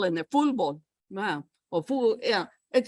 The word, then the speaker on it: fútbol: Oh, yeah, está fútbol. Oh, futbolista. ¿Eh? Futbolero. Fútbol. Huh? Fútbol. Yeah, with the L, fútbol.